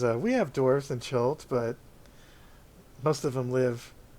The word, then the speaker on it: Chult: How do you say that place? Chult? Chult, yeah. Chult.